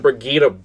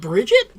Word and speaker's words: Brigitte: And Brigitte broke that game. Is that how you pronounce that name? Yeah. It's not Bridget? No, it's Brigitte. I always thought it was Bridget, I'm not going to lie.